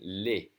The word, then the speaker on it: les: We have a bunch of two-letter words, and the E in second position is going to be pronounced E, as in le. But when there's an S, it's always going to be pronounced E, as in les.